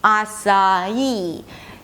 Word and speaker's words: açaí: We begin with /ah/ that's the /ah/ as in father, then /sa/ that's the /s/ and the /ah/ as in father 'ah-sa'. And the third syllable is just 'ee'. It's the primary stress, so it's going to be higher in pitch.